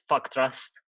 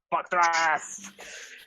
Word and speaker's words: Fa'kth'rast: I am representing the Tau Empire with my Sept Fa'kth'rast, spelt with a bunch of apostrophes because there's children in the store.